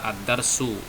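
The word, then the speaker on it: الدرس: Ini bacanya adalah Ad-Darsu. Ad-Darsu.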